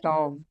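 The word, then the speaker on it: tomb: है ना वो टू टॉम किसको किसको लगता है कि इसको टॉम पढ़ते हैं टोम टूम टॉम हा श्रेया इ राइट साइलेंट होगा हां बी साइलेंट रहता है इसको टूम पढ़ते हैं साइ साइकोलॉजी नहीं बोलते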